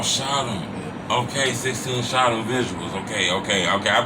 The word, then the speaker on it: Shotem: My bad, I don't mean to cut you off, but I people be saying my name wrong. Okay, man. It's Shot on. Oh, Shotem.